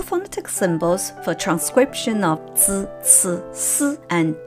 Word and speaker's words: zi: To produce the three syllables, zi, ci, si, the most important thing to remember is that we modify air stream by keeping the tip of the tongue flat.